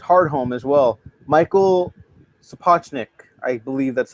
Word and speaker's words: Sapochnik: Michael Sapochnik, I believe that's how it's pronounced.